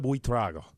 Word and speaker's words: Buitrago: our guest in studio right now is, please tell me I got this, Maritza Buitrago.